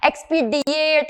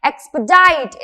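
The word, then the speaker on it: expedite: एक्सपीडिएट या और दूसरे तरीके का प्रोनाउंसिएशन अगेन हमें नहीं करना है। एक्सपीडाइट इस तरीके से यूज करना है इस शब्द को, इस तरीके से प्रोनाउंस करना है इस शब्द को।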